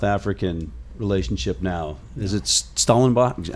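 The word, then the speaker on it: Stellenbosch: Is it Schellenbosch? How do you say it? It's in Schellenbosch, yeah.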